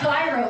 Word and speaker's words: gyro: You know why gyros are so popular? Well, for Greek people. It's not gyro, it's gyro, right? It's pronounced gyro? Gyro. Because it rhymes with zero. It's just easy one to remember.